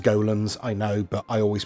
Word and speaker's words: Golem: okay I want to address it should be pronounced golens I know but I always pronounce it Gollum because I'm stupid there we go um we